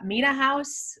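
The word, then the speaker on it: Mena House: of course there's the four seasons there's uh mina house is that how you say it yeah which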